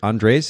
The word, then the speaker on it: Andres: name before we started andres is is that the correct pronunciation it's actually andre's andres okay the the accent on the a okay cool have i've